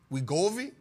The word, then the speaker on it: Wegovy: How you pronounce that, B? Wegovy.